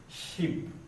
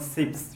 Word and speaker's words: sheep: Now class, I have the word sheep. I hope you'll pronounce that well. Not sips, you talk of sheeps.